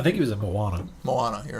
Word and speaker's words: Moana: Moana, you're right. Whatever. That too. Better than Mona, as somebody else pronounced Yeah, it I've heard once people call it Mona. on television. I heard somebody call it Moaner, and I thought, you